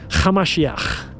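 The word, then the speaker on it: המשיח: His real name was Yeshua, Hamashiach. That's how you pronounce it in Aramaic.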